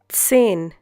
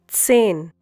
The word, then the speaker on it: zehn: zehn Once again, zehn. Hope you remember the pronunciation of Z in German. It's TS.